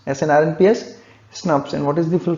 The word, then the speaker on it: snRNP: you pronounce it the word snrnps it is pronounced as snobs snrnps snaps and what is the full form of snaps